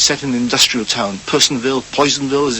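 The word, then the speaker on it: Personville: Harvest which is set in industrial town Penville Poisonville as it's pronounced described as as an ugly town in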